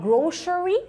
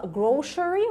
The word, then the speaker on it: grocery: الكلمة دي ممكن تبقى grocery يعني ممكن تتنطق grocery وممكن تتنطق grocery. الاثنين كنطق كpronunciation صح.